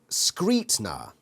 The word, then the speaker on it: Scrutiner: into that so okay scrutiner pronounced screetna screep now with an emphasis on the street i thought it was script yeah again this book's doing